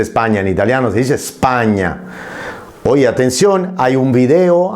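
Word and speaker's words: Spagna: donde yo hablo precisamente de la S impura y doy como ejemplo España, la palabra España, que se pronuncia sin la E.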